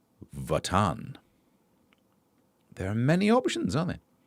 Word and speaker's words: Wotan: Wot Wotan is pronounced Votan.